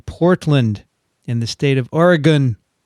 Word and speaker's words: Oregon: in the state of Oregon. Okay, I said it right. Oregon. Not Oregon, but Oregon. Okay, it's the gun part.